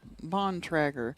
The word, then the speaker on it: Bontrager: and I'm like, Molly, how do you say your last name? Elkhart, Indiana. And she said, I was like, is it, and she says, Bontrager. It's almost Amish.